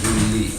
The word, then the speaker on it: Gulli: It's the they say American. Galli here all the time, don't worry. In Italian it's Gulli.